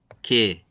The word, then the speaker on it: 개: 힘들어 하기 때문에 선생님이 굳이 뒤에 거부터 한 건데 여러분들 이거 혹시 정확하게 발음할 수 있나요? 개와 개.